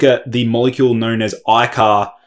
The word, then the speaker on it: AICAR: is break down how icar may potentially improve aerobic performance energy levels and vitality but first of all let's break down what is icar which is spelled a-i-c-a-r well i-car is short